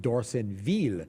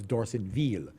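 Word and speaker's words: Dorsonville: Napoleonville, but he pronounces it D'Orsonville. It's kind of like a double E there instead of an I. So it's D'Orsonville is how he pronounces it.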